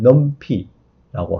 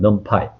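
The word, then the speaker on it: NumPy: 임포트 판다스 하듯이 임포트 넘피라고 하면 되고요 넘피 또는 넘파이 이렇게 발음을 하고 있습니다 어 n 차원 배열의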